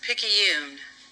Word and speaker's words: Picayune: I was putting a Quebecois or Canadian French twang to it, and that's not how it's said at all.